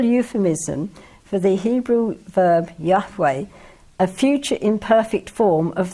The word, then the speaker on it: Yahweh: Yahweh. Say it again? Yahweh. Thank you. I knew I wouldn't get it right if I tried. So this is a terrible euphemism for the Hebrew verb Yahweh, a future imperfect form of the verb to be.